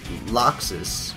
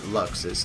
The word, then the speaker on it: Laxus: are allowed to take loxis or luxus depending on how you want to say his name uh says that